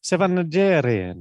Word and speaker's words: Najarian: Sevan Najarian. Yeah. You don't say the R, you say the R. Yeah, you roll your R's.